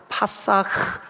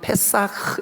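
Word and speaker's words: פסח: 히브리 말로 파사흐 혹은 페사흐 이렇게 발음하는데 넘어갔다 이 뜻이에요.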